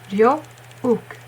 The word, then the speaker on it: Ryeowook: It's often romanized as double O because of book, moon, words like that. So yeah. U, ook, Ryeowook, from book.